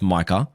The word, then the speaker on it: Micah: Michael Parsons called him Michael again which is like man like do you not just have the most basic assistant to say bro it's pronounced Micah maybe you don't say